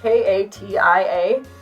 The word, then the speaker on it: Katia: It used to be spelled K-A-T-I-A, which, if you don't know, is Katia, not Keisha.